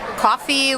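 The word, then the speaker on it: Ko-fi: And you could also do coffee, which is you ask people, buy me a coffee.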